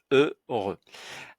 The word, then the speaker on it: heureux: Mais pour nous, cela n'a aucune importance puisque le H ne se prononce pas. Donc, on le met de côté pour la prononciation. On retient E, heureux. Voilà, ce mot-là se prononce heureux.